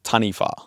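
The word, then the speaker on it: Taniwha: Uh, tanifa. Tanifa. Yeah. How do you spell that?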